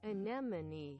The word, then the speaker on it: anemone: Try to put less emphasis on the vowel sound and pronounce it quickly. Okay, quickly. Anemone. Try to say ne instead of ni.